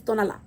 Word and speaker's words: Tonalá: It's Tonalá.